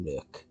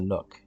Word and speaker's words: nook: I think I'm going to go with the nuke. I said that weird. For some reason, my brain wanted to say the nuke, but it's the nook.